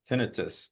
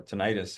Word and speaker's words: tinnitus: ringing in the ears, tinnitus or tinnitus. However, again, different people pronounce it different ways.